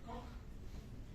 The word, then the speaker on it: Koch: No se dice Koch, se dice Koch, ¿no?